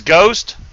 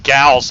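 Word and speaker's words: Geauxst: I'm thinking Gal because of the G-E-A-U-X. I'm going to have to put that in pronunciation thing and see if it does say Ghost or Goust, because I think it's the other way, but... Equals go ads st makes ghost.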